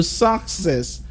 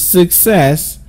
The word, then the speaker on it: success: hear you say success now I know most of you will be surprised at this because you've always told the stresses on the first syllable so you go success but that's totally wrong the word is success with the stress syllable on the second syllable next what we have